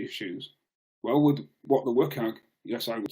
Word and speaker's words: WCAG: Well, I introduced What the WCAG, which incidentally is how it's pronounced, which outlines in detail